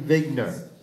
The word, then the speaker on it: Wigner: I've been told that the correct pronunciation of this gentleman's name is Eugene Wigner, but I'm going to call him Eugene Wigner.